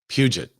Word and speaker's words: Puget: Puget.